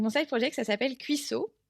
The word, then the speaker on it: Cuissoh: Donc, mon side project, ça s'appelle Cuisseau. Ça s'écrit OH, pas OT, parce que sinon, ça fait vraiment un cuisseau.